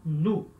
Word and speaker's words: nous: Em francês vai ser nous, então, O, U, som de U, certo? E S não se pronuncia, esse S. Então, se fala nous, nous, nós.